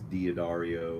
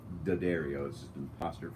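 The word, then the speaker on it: D'Addario: me I know it's it looks like it's D Dario or that's how everyone says it that's actually just da Dario's ' you know did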